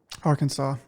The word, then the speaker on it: Arkansas: countryside of Korea Kore I do know people a few people who uh have pronounced the state that you live in with an S and I try to tactfully correct them uh if they are